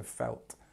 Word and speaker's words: felt: learning other languages but just make sure that you change this e to e so felt instead of fi because that's not right number 21 is to